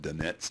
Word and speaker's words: Dunnett: hoc test it's called the Deniz test sometimes pronounced Donets tests what is it it